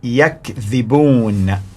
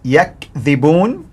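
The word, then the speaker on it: يَكْذِبُونَ: The pronunciation of the word is yakdhibun, yakdhibun, which means they lie.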